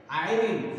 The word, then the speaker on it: Irene: Irene, I-R-E-N-E, I-R-E-N-E, Irene, Thompson, P-H-O-M-P, Thom, S-O-N, this is the pronunciation children, Irene Thompson, so he is the poet of this poem, right?